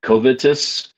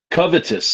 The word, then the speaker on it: covetous: Covetus. Covetous. That's it.